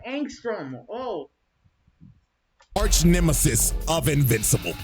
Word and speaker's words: Angstrom: Oh, that's how you say his name, Angstrom.